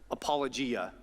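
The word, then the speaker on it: ἀπολογία: say this I gota look at my notes apologia we get the word apologize but we use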